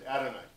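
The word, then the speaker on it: אֲדֹנָי: The pronunciation in Hebrew is Adonai.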